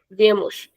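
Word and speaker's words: vêm: Accento circunflexo. Você ele ela vê. With the conjugation of nós, it is regular. Vemos.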